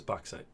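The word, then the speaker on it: bauxite: look this one up how to pronounce this oxide o o oh is box site okay that was that was close yeah I think I said it right box site uh which was more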